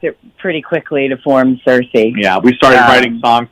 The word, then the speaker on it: Sirsy: so funny how people pronounce it now they pronounce it in all kinds of crazy ways but it is cersei it is seriously yeah oh great i love